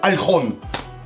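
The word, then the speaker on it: Ольхон: D'ailleurs, pendant toute la vidéo, je vais utiliser la prononciation russe de Alkhon. Oui, parce qu'en français, ça donnerait genre l'île de... Oh le con!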